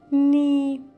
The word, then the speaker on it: knee: Knee. Knee. Коленка. Буковка K вначале не читается перед N.